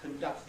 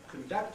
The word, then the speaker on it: conduct: in general, is that the verb has the stress on the second syllable, like conduct and produce, right? But the noun, or an adjective if there is one, has the stress on the first syllable. So the noun corresponding to conduct is conduct.